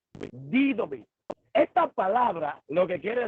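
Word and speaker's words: δίδωμι: Cuando nosotros estudiamos el término constituir, encontramos una palabra griega que se pronuncia didomi, didomi.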